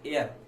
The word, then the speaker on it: heir: देखो इसमें भी एच निकलेगा, इसलिए ए निकलेगा हेयर, एयर, इसमें निकलेगा एयर।